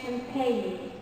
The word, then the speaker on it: champagne: The G is not often or pronounced when followed by an N, so we say champagne.